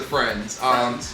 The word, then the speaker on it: FRNDS: The name has been shorted to Friends. Just as without the TV show. Yes, it's spelled different. It's FRNDS.